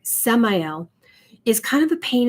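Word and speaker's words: Samael: oneness so yeah archangel samuel samuel uh i say let's say it right samayal is kind of a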